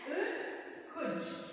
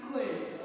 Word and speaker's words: could: walk and should and could. Okay, we can't say chal, we can't pronounce it walk, we can't pronounce it should, and we can't pronounce it could. Okay, remember, in these words, L is silent, okay.